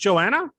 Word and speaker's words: Joanna: here with um um i don't want to mispronounce it your name is joanna oh it's just joanna i wasn't sure if it was just joanna